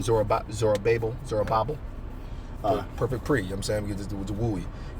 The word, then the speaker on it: Zerubbabel: Zerubbabel.